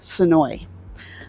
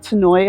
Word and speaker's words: Senoia: Locals pronounce it Senoia. I know I keep wanting to pronounce it Senoia as well, but if you want to live here and fit in as a local, it's Senoia.